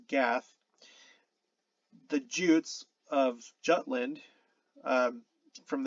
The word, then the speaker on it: Gad: the root probably from the biblical gad pronounced gath the jutes of jutland